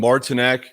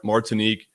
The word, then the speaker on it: Martinique: sold me on taking martinek is that how you say it mark what is it martinique mark martinique i thought it was martini q guy i didn't even